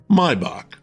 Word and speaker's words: Maibock: It's Maibock, or as it's pronounced in Germany, where the beer hails from, Maibock.